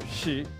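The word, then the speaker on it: 四: And it stems from the fact that the kanji for 4, or shi, is pronounced the same as this kanji. The kanji for death, shi.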